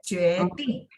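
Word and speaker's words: 决定: Nah kalau ini nada 4 memang dihentak, jadi kayak jueting.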